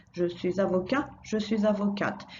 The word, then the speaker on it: avocate: Je suis avocat, je suis avocate. So all we do here to get the feminine is add a E and sound the T that comes before, or the letter that comes before it.